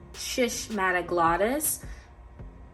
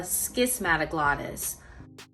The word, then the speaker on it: schismatoglottis: Here I have a schismatoglottis, or some people pronounce it a schismatoglottis.